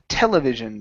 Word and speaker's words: television: And our last one here is television, stressed at the very beginning.